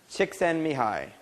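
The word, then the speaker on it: Csikszentmihalyi: mahai six in mahai that's how he pronounces it yeah yeah chick send me hi so it's not a Japanese name people okay so he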